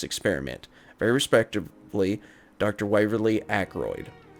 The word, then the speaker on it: Ackroyd: Waverly Ackroyd his name rhymes with hemorrhoid okay so a